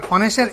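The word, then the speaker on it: honest: যেমন মেঘা ওয়াজ অনেস্ট girl, অনেস্টের এইচটা হচ্ছে consonant beginning word, কিন্তু উচ্চারণটা হচ্ছে অনেস্ট ও এর মতো, যার কারণে এখানে আর্টিকেল হিসাবে এন বসবে।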